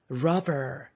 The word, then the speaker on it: robber: Robber, 강도예요. R-O-B, rob가 강탈하다. Robber 발음 잘못하면 lover, N이 됩니다. 조심.